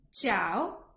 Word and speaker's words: ciao: But if the letter C is followed by the letters E and I, so E and I in Italian, then it will give me the sound ch, like chocolate. So ch, I will say